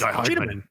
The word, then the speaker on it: Cheetahmen: It's like Cheetah the animal, but it's pronounced like Die Hardman. Yeah, exactly. It's Cheetahmen.